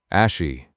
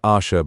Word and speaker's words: Ashi: "Ashi." Not Asha, but Ash.